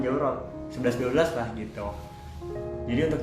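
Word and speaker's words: çorap: Nah, dan juga kayak misalnya kaos kaki itu bahasa Arabnya jawrok, tapi kalau di bahasa Turki itu tulisannya caurok, pakai P, pakai C, tapi bacanya juga sama jawrok, 11-12 lah gitu.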